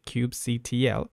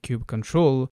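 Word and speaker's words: kubectl: it differently some say Cube CTL others say Cube control some say Cube cuddle others say Cube cuddle the canonical pronunciation is Cube control so I'll try and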